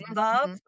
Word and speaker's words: Veuve: Um but it's Veuve, and you remember this cuz it rhymes with love.